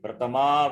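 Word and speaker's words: प्रथमा: Not pratham vibhakti. Pratama vibhakti. Prathama vibhakti, yeah.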